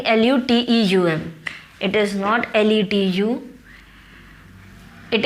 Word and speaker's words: luteum: Corpus लूटियम, लेट me check the spelling, LUTEUM.